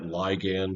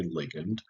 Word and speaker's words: ligand: And I say that ligand, even though I will typically say ligand. Those are interchangeable pronunciations, so don't really get hung up on that.